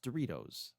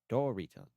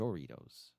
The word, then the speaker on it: Doritos: But it's pronounced Doritos. Doritos. He's calling it Joritos.